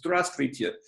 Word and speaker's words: здравствуйте: For example, the word for hello is здравствуйте, which starts with a Z and a D and an R.